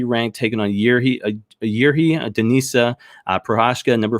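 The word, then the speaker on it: Procházka: Reyes versus, and I've got his name, Prochazka is how you pronounce it. It's Prochazka. But I went and figured out how to pronounce it earlier. It's Prochazka.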